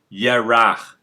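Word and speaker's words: ירח: the word moon in hebrew they will say ye rah that's moon light okay when you see the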